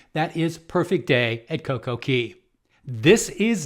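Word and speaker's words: CocoCay: celebrity silhouette celebrity added Coco K or should be pronounced CoCo Key in April of 2024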